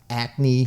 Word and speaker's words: Acme: And now your last one that I want to get into, because I really like this thing, is your Acme Nostalgic Buggy. Yes. Did I pronounce that correctly?